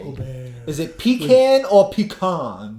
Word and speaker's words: Gobert: No, Gobert. Gobert. You have to say it like the French, Gobert.